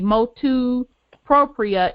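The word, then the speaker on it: motu proprio: The importance of the, how do you pronounce that, Brother Wendell, the motu propria.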